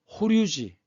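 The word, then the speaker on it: 法隆寺: 지금 이것은 호류지 일본 발음이 호류지고 한자로 쓰면 법륜사라고 얘기하는데 5층 탑입니다.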